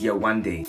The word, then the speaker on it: Yewande: But it's Yewande. 3-syllable Yewande onweleshe.